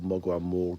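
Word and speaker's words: Morgawr: People call Mogwai Morgaur because that's how it's spelt. But that's the Cornish language.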